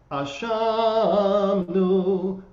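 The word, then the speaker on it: אשמנו: for this, is that the words are pronounced Ashamnu, Bagadnu, Gazalnu, Dibarnu Dofi.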